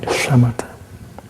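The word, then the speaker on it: shamatha: And with this uh you pronounce uh like shamata.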